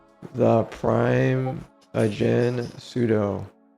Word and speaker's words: sudo: A large portion of the community pronounces it as sudo. According to it's sudo sudu sudu. Oh my god, this instructor. Sudu into shell. Sudo into root. Sudo. Sudo is the original intent. Pronunciation command. Super user do.